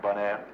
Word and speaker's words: Bonaire: Bonaire, you know, bon, good, air, Bonaire.